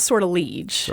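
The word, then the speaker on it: Sortilège: They pronounce it sortilege. Okay, sortilege. But that's not how it would be pronounced in French.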